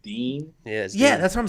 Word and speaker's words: Din: get it but like d-i-n okay well his name is pronounced Dean yes yeah that's what